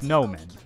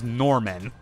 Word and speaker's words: Nomen: the overarching villain, is Nomen, you know, the leader of Barum. In Dolores Eye, they mistranslate and mispronounce his name as Norman, which, I'm gonna be honest, significantly reduces the threat that that guy has.